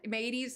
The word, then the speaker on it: Mateys: You know, like a pirate, like Arg matey. But Mateys is spelled M-A-T-E-Y-S.